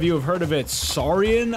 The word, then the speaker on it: Saurian: Saurian, I believe, is the how you pronounce it.